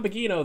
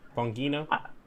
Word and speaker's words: Bongino: okay yes there's don bagino there with all his you know wait which ha i'm pronouncing that wrong how's that supposed to be pronounced bongino i don't know uh